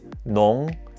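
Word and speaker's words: 农: hat to block the sun this character is pronounced nong and it means agriculture or farmer it is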